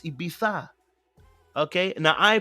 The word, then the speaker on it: Ibiza: It is now the way they pronounce Ibiza. Okay? Now, I pronounce a lot of words wrongly. You guys know this already. But this particular word is Ibiza. Okay? All right? It's Ibiza.